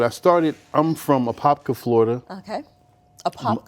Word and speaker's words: Apopka: well like I said I started I'm from a popka Florida okay apka Apopka Apopka okay most people don't I I always